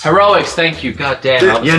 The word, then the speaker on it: Heroics: I haven't picked up many of these limited run games, but this is One Way Heroes, One Way how do you pronounce that? Heroics. Heroics, thank you.